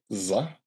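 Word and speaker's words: ظ: This is pronounced like za. It's a z sound, but it's more like it goes back in the throat a little bit.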